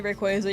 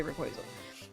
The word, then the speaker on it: Rayquaza: If you say Rayquaza, you might be a sociopath. I definitely don't say Rayquaza. I say Rayquaza.